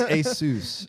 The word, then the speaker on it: Asus: It's Asus.